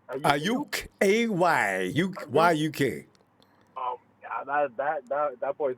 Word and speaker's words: Aiyuk: Aiyuk.